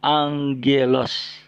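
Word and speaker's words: ἄγγελος: Oke, ini dibaca atau diucapkan NGG. Enggak. Kita lihat contoh kata yang digunakan. Ya, ini bagaimana membacanya? Ya, angelos.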